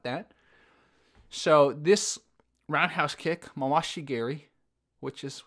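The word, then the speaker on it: mawashi geri: really chill about that so this roundhouse kick Masashi Gary which is how they say it usually in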